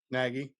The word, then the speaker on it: Nagy: And then when I need help pronouncing his last name, is it Nagy? Matt Nagy? Nagy.